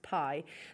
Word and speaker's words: bi: can see it there it's spelt bi it's actually pronounced pie the traditional jade flat